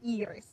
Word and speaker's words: Iris: Uh my friends, instead of like using my first name, which is you pronounce in Finnish you say Eeris.